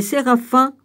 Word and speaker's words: séraphin: À partir d'Isaïe 6, les séraphins, autrement dit, on prononce comme ça, les gars, S-E-R-A-P-H-I-M. Oui, c'est ça, séraphin.